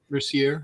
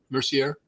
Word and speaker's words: Mercier: Mercier. Yep. Mercier. It sounds like it it looks like Mercer, but it's Mercier, I believe, is Yeah.